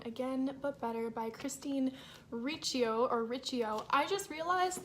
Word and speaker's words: Riccio: I've always said Riccio, but I just watched a video from Jesse the Reader where he says Riccio, and so clearly I've been in the wrong.